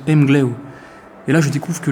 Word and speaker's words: Emglev: que mgev se prononce mgleau et là je découvre que le V à la fin des mots en breton se prononce un peu comme un comme un o comme un W et je découvre encore